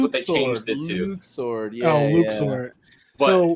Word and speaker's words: Luxord: I'm a big fan of Luxord, if that's how you even say it.